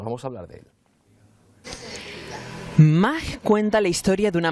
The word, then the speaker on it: MAH: Se llama MA, M-A-H, y quiere decir madre, se pronuncia exactamente igual que como nos expresábamos muchos cuando éramos más pequeños.